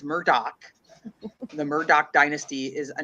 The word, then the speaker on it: Murdaugh: Then I thought it's it was Murdoch. It is. It's Murdoch. You have to make sure you do it right, otherwise you're going to get all the crap that I've already gotten.